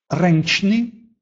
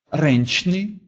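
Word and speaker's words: ręczny: Если же звучит после этих букв стоит звук «дж» или «ч», то тогда они произносятся как «онь» или «энь». Например, «сонджич», «сонджич», «судить», «згинонч», «згинонч», «погибнуть». Или «рэнчны», «рэнчны», «ручной», «пенч», «пенч», «пять».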